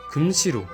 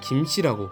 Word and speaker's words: 김: 한자의 발음이 김이 아니라 금이라는 점인데요. 몇몇 학자들의 견해에 따르면 실제 삼국시대나 고려시대까지만 해도 이 성씨를 김씨가 아닌 금씨로 발음했을 것이라고 합니다.